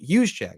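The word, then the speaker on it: Juszczyk: know how you say it h Che H hu Che there you go thank you uh plays fullback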